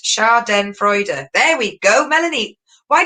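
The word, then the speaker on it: Schadenfreude: right okay we've got one race put it's pronounced char den freude there we go melanie why didn't you do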